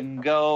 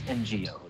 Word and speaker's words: Ngo: I think it's yeah Veronica go or or no it's NGO is the pronounce and you can take